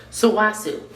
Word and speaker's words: Sulwhasoo: Let me see how I'm supposed to pronounce this name. Sulwhasoo. Sulwhasoo. Sulwhasoo. Sulwhasoo. Sulwhasoo. Sulwhasoo. There you go. Sulwhasoo.